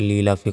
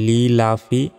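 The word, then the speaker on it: لِإِيلَافِ: আমরা অনেকে বলি লি লাফি, এখানে বলি যে লি লাফি কুরাইশ, সম্পূর্ণ ভুল এটা। দেখুন এখানে লি, লি এর পর ই, ই বলতে হবে।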